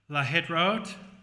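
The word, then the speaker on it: להתראות: I'm going to guide us in a little pronunciation. So, shalom. Shalom. Haverim. Haverim. Shalom, Haverim. Shalom. Haverim. Shalom, shalom. Shalom. Shalom. Lahitrot.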